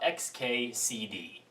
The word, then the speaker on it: xkcd: epic let's talk about XKCD XKCD spelled and pronounced xkcd if you try to actually pronounce it I think you'll wind up summoning great cthulu is one of the